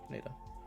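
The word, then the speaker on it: Naida: when she is speaking to Kayla how they pronounce her name in the audiobook yeah NADA it's it's n a i d a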